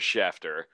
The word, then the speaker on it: Schefter: Right before you do prop bets, did anyone see that Adam Schefter said 3 hours ago that CJ, what did I say? Schefter? Sorry. No, it is Schefter. It is Schefter.